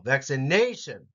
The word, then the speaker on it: vaccination: IM system hydration vaccination it's actually the third syllable vaccination resilience mental health now